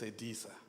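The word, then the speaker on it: Selisa: But what I do want to um correct is that my surname is Sadisa. It's it's Southre Sutu. It's written with S E L I S A. But when you pronounce it, it's Sadisa.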